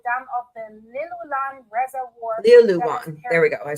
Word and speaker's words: Liulan: Liulan.